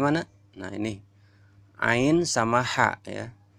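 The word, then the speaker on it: ع: Ya, halqiyah ini yang ketiga, keluar dari kerongkongan, keluar dari tengah-tengah kerongkongan yang tepat. Nomor 3 mana? Nah, ini ain sama ha, ya.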